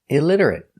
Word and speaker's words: illiterate: 4 syllables. Stress on the second syllable. Illiterate. Stress on lid.